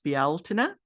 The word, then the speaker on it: Bealtaine: I know that in Irish it's Bealtaine, and in Scottish Gaelic it's pronounced Bealtin, and in Wales it's called Callan Mai.